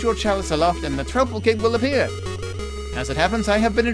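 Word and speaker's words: Troupple King: All hail the Trouble King. Oh, you've never heard of the Trouble King? Half trout and half apple. Pronounced like mouthful.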